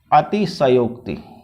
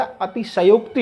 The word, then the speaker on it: अतिशयोक्ति: सनोक्ति अलंकार होता है इसके उच्चारण का भी आप लोग विशेष ध्यान रखें कई लोग जो है इस प्रकार से गलत है अति सहयोग ऐसा आप ना लिखें क्योंकि अतिशयोक्ति नहीं होता अति सनोक्ति होता है तो यह भी